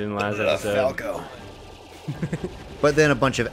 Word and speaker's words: Falco: Oh, see, that's how you say Falco, by the way. Not just say his name like you did in last episode. Falco.